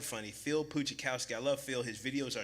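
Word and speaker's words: Pustejovsky: But his name is spelled funny, Phil Puchikowski.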